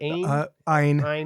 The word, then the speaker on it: Ayn: Ayn?